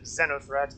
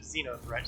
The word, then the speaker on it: Xenothreat: i keep doing that they they pronounce it zeno threat and most of the folks i know pronounce it xeno threat so you know so